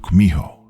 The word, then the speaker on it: Kumiho: In Japanese, you've probably heard of it as Kitsune, though in Korean, it's pronounced Kumiho.